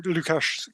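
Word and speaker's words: Łukasz: pass back to you Lucas for lucash excuse me for any closing comments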